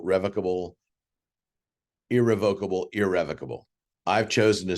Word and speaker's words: irrevocable: for a moment revocable irrevocable I am pronouncing that way just so you clearly hear the difference in what I'm saying the pronunciation for each is correct both ways all right so revocable